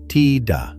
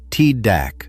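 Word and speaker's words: tidak: On pronunciation, the K at the end is barely pronounced, more of a stop than a sound. Ta with the throat closing where the K would be.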